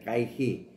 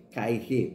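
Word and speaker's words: καί: So, ang phonic spelling po niya ay kaihi. So, ang pronunciation po niya ay kaihi. Pero, madalas nating nababanggit na kai.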